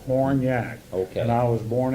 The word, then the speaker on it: Hornyak: Horny, and it's pronounced Hornyak. Hornyak. The way it's spelled, Hornyak.